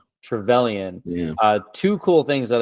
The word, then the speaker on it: Trevelyan: Trevelyan.